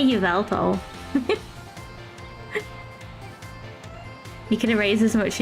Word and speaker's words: Yveltal: Is Yveltal? Although, isn't it actually like Eviltal? I don't know, but I say Yveltal.